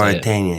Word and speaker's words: Mauritania: Mauritania, yeah.